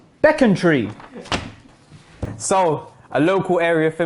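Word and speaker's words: Becontree: square we're doing this some people call this beacon tree when actually it's beckon tree so a local area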